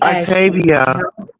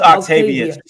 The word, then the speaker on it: Octavius: Octavius yeah let me Octavia no it's Octavius she said it right Octavius I'm looking at a s on the end of his name look if how as